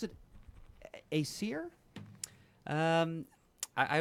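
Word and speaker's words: Æsir: Or do you pronounce it Acir? Um I I put the accent on the first syllable. I think it's Acer.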